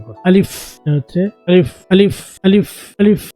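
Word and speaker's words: ألف: খেয়াল করো আমি কিভাবে উচ্চারণ করব। আলিফ হচ্ছে আলিফ, আলিফ, আলিফ, আলিফ।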